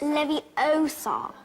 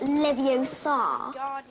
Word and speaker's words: Leviosa: someone's eye out besides you're saying it wrong it's Lev Oar not Levi Oar you do it then